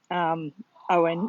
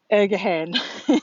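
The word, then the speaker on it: Eoghan: morning with Owen, or as our office were trying to get used to calling him Owen, even though his name is spelled E-O, E-O-G-H-A-N. Ergahan is what a couple of them were saying.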